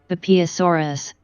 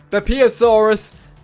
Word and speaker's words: Beipiaosaurus: Beipiaosaurus. Beipiaosaurus. Apparently that's how you pronounce it.